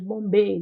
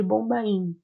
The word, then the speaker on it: Bombay: Índia, na cidade de Bombaim, e hoje nós chamamos de Bombay, na pronúncia, mas algumas literaturas também chamam de Bombaim.